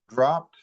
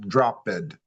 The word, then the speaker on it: dropped: So, for instance, the word dropped. It's just one syllable, not drop bed. So, I think that's everybody in the class. Oftentimes, when you see the ed, you want to pause. Don't pause. Just keep going.